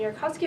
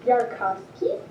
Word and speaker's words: Yarkovsky: with the OSIRIS-REx 3-to-1 science team describing the Yarkovsky effect.